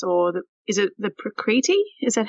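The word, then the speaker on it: prakriti: balance the doshes or the is it the precreity is that how you say it that's right there preparities yeah so there's three main doshas in ayurveda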